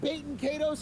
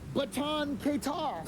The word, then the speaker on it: Baten Kaitos: not Baten Kaitos, it's Baten Kaitos.